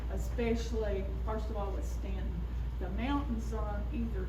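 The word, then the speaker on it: Staunton: The uh kind of in the middle of that it looks like Stuntton. It's pronounced Stanton.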